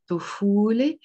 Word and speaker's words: الطفولة: لا طا حرف شمسة is a sun letter, so we will pronounce it الطفولة, literally the childhood, بلبنان, بلبنان.